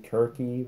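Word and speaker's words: Circe: heart just about cried he pronounced cersei kirky which technically that's the ancient greek pronunciation but the title's been anglicized um so that's what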